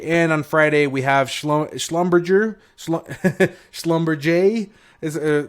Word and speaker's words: Schlumberger: Nothing else interests me here on Thursday, and on Friday we have Schlumberger is how they say it.